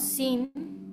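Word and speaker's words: س: abeja o después tenemos sin sin como decimos en español sin cocina sin sal verdad Entonces sin igual a la s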